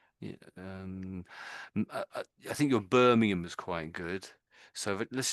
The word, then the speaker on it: Birmingham: the American way, but the Brit the Brits don't really say that. We say Birmingham. Birmingham. You don't really don't really hear the ham properly.